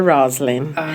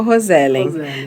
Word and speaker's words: Roselen: Na realidade é o nome inglês seria Rosln, mas ninguém no Brasil nunca falou Roslin. Daí ficou no Brasil ficou Roselin.